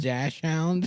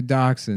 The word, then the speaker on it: dachshund: that dash hound? Yeah, It's Costco rules here. yeah, that dash hound. Is that what they're called? Yeah, Dotson. they're dachshund.